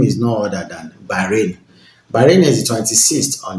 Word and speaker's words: Bahrain: If you hear the pronunciation of this country, you will think it does rain there all the time. And the name is no other than Bahrain.